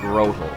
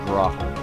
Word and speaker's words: Grotle: Like Grovyle and Grotle, or Grotle. I don't know, however you want to pronounce it is fine by me.